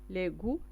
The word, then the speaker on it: les goûts: لي غو تيو اس ما كنطقوهمش.